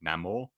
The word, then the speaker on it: Namor: ladies and gents, where he says his name and he says it the Latin way. That's right, Paulie? Namor. That's how you would pronunciate it if you were Spanish.